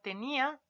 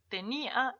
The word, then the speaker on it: tenía: y la palabra tenia se dan cuenta que incluso cuando nosotros hablamos de esto lo pronunciamos de manera distinta no en la fuerza de nuestro esfuerzo de voz está en otra parte tenía y tenia hablamos de